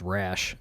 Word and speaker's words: Rasche: so we talked about my last name being phonetically pronounced rash and i was i